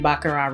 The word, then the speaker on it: Baccarat: video and not mention bakara Rouge now the team bakurai is silent it's French okay for God's sake